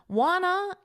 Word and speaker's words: wanna: Wanna is a reduction. It's the word want to.